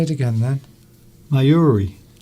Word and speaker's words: Mayuri: Duncan pronounced my name correctly. Come on, say it again then. Mayuri. Mayuri.